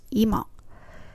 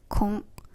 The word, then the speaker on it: 今: In the previous conversation, we pronounced this kanji as ima, which means now. It also has onyomi readings as kon, for example, in words like 今週, this week.